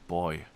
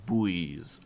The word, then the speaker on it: buoy: got away from me apparently it's pronounced like boy yeah i know that like buoyance and that this thing here these swimming things these are pronounced buoys apparently at least that's what